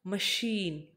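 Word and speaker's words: machine: देखो सबसे पहले आपको प्रोनाउंस करना है, ठीक है, मशीन, मशीन, तो आप देखें कि आपके पास श की ध्वनि निकल रही है, मशीन, मशीन, बड़े श की ध्वनि आ रही है CH से।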